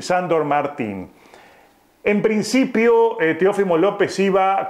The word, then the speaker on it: Martín: Miren ustedes que a veces digo Martín y a veces Martín porque me cuesta un poco nombrarlo al español con su correcta pronunciación. Él es Sandor Martín, pero a veces a nosotros los que vivimos de este lado el Martín se nos va a Martín.